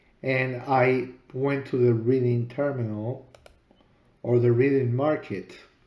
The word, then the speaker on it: Reading: All my life, reading has been Reading, has been pronounced reading. Why would this be reading?